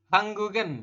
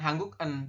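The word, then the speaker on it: 한국은: Jadi nanti dibacanya adalah seperti ini. Hangguk terus ditambah dengan en. Atau ya Yorobun. Atau hangguk kemudian tambah dengan i seperti ini. Hanggugen ya, hanggugen seperti ini dibaca. Nanti ini hanggugi seperti itu. Perubahannya jika ditambah dengan partikel subjek maka dibacanya itu jadi hanggugen. Ya, kemudian yang ini hanggugi seperti itu. Bukan hangguk bukan hangguk en, tapi hanggugen seperti itu. Jadi gioknya ini naik ke sini nanti dibacanya.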